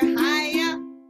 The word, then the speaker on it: Chaia: Teacher Chaia, that's me, that rhymes with papaya.